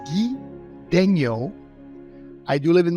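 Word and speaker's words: Guy: a living all right my full name pronounce it's French so you'll hear the French Canadian accent behind everything that I talked so it's ghee Daniel I do live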